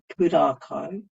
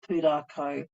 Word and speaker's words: Pūrākau: And this is where I think pūrākau, which is a narrative Māori Indigenous approach, um,